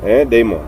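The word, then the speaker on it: δαίμων: la palabra hispana demonio, demon. Aquí está la palabra escrita en griego, daimon, pero se pronuncia demon.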